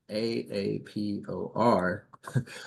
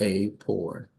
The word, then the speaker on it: AAPOR: perfect um so I've been calling this organization a a p o r but the correct pronunciation is a poor thanks for correcting me now Bianca Kristen here